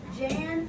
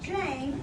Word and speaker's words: Jane: That's the funny thing with these silent E pattern words. If you don't spell it right, you typically make a word, but it's not the right word, is it?